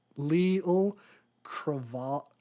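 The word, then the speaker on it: Auli'i Cravalho: But yeah, he's coming back, and then I'm going to mispronounce the lead ladies. It's Leal Cravalho.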